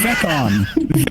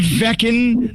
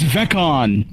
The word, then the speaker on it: Veon: It is Veon Beckon. Not vein, not pecan. It's veon.